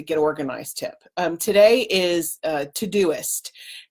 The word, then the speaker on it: Todoist: organized tip today is todoist and it's spelled just like it sounds tod o ist to-do list and it